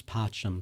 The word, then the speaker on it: pacem: Okay, yeah, because the C in Latin is always a hard C, right?